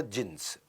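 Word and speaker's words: Djinns: उसमें बेसमेंट में क्लब होता था, जिन्स, डी जिन्स लिखता था, डी साइलेंट होता था, जिन्स।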